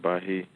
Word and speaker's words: Bahia: You pronounce it Bahia, but it's spelled with the same letters as Baha'i, as the religion of the United Nations.